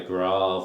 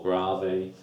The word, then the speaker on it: grave: In the Beethoven we're going to see we've got a French term for, or Italian term, depending on how you say it, it's either grave or grave, for slow.